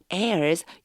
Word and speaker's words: heirs: And your heirs, 요거 발음 조금 조심하셔야 돼요.